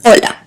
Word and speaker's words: hola: I'm looking at the age is silent just like in hola and J always sounds